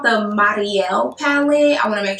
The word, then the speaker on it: Mariale: too faced i think the proper way to pronounce her name is like marielle it doesn't sound like mario it's like mario